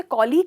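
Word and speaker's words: colleague: आप इसे कॉलीग कहते हो और कलीग कहते हो। जनरली इसे कलीग कहते हैं, पर इसका सही प्रोनाउंसिएशन है कॉलीग। कॉलीग, इसको आप यहाँ स्ट्रेस करते हो।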